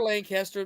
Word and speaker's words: Lancaster: Well, And, that's for Lancaster. This has been Lancaster talk. Excuse me, you're pronouncing it how?